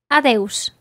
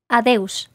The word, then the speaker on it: adeus: There are a couple of ways to say goodbye, but one that will work in all situations is adeus. Listen again to how Uxía pronounces this. Adeus.